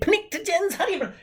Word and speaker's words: pnictogen: I think pnictogens? Who puts an N after a P for crying out loud?